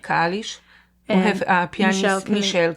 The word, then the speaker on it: Kalisz: Kalisz.